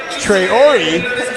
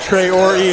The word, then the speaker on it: Treyori: is sophomore post Lydia treyori Lydia I've been announcing your name wrong I'll be vulnerable with you I've been saying Trey or it's all right but uh Trey or E I've got it now and uh so